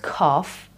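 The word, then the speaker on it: کاف: This one is called kaf, kaf, not like coughing, but kaf, and is pronounced k or k, depending on where in the word it appears.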